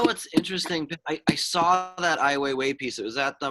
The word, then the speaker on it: Ai Weiwei: Ai Weiwei.